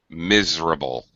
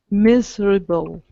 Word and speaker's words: miserable: you guys comments triple drop that middle vowel sound miserable comfortable yeah in